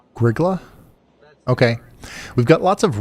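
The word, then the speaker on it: Grygla: Oh, and the pronunciation patrol respectfully submits that it's Griggla for that spot in Minnesota you mentioned earlier. Griggla.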